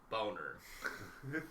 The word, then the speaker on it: Bonaire: It's a Netherlands territorialized island, and I asked if it's pronounced Bonaire, like that, on how it's spelled, or Boner, and he tells me it's Boner.